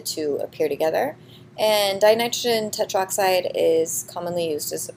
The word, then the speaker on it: tetroxide: in 204 stein nitrogen tetroxide not tetra oxide get rid of this a it would it's too hard to pronounce they will put two